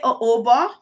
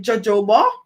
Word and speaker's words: jojoba: pronunciation of this oil before I used to call it jojoba which is the English pronunciation however I learned that